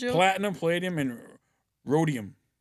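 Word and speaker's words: rhodium: Rodium. The H is silent.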